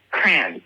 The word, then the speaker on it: crayons: Not even crayons, it's crayons. It's like one syllable.